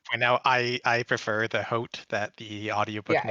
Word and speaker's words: haut: to point out I prefer the hote that the audiobook Yeah, it's narrator does.